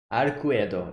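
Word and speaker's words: Arcueid: this is him again she's waiting for him arquetto that's how pronounce her name okay what attendance yes his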